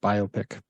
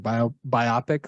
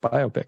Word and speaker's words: biopic: big story online that it's actually pronounced biopic. Oh, all right. And I've been saying biopic for maybe my whole life. Yeah. But this week I saw it on Twitter, like this whole huge trending thread about how it's pronounced biopic. And I'm like, I just hate the word bio.